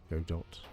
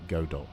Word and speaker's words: Godot: Godot. Some people say Godot, and some people say Godot. I tend to call it Godot, but whatever, doesn't matter.